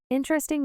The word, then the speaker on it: interesting: Interesting with stress on in.